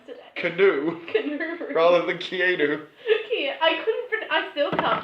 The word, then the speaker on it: Keanu: I also can't believe I called him Canoe so many times today. Canoe, Canoe. rather than Keanu. Yeah, I still can't pronounce it.